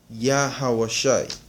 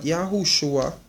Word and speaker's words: Yahawashai: but it is actually Yahawashai. Alright, it is actually Yahawashai. Not Yahushua, not Yahawashawai, Yahawashai. Alright, Yahawashai.